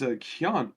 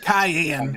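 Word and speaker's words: Kianne: Next is Kian, or Kian? How do I Cyan! pronounce Cayenne. Kian? Cayenne.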